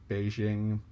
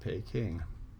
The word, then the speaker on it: Beijing: different chinese dialects so people write the word the same way but people in one part of china pronounce it peking people in another part pronounce it beijing and it depends on how you say it but the locals in beijing say beijing not pay king similarly with calcutta c-a-l-u-t-t-a